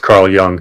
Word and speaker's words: Carl Jung: Um, I think they always pronounce it young.